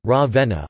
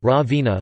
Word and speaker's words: Ravenna: Ravenna, Italian pronunciation, Ravenna, also locally Ravenna, listen, Romagnol, Ravenna, is the capital city of the province of Ravenna, in the Emilia-Romagna region of northern Italy.